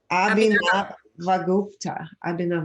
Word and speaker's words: Abhinavagupta: Okay, the next one is, let's see how to pronounce it. Abhinavagupta.